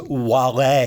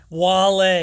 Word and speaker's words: Wale: It is Wale. You had to give me the correct pronunciation on that. I avoided some embarrassment. Wale, absolutely. Okay. happy to avoid embarrassment all the time. Wale, yes, he's another one.